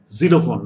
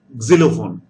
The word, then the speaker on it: xylophone: the g over here now zero phone no it's not like that it is xylophone xylophone gizelle phone okay now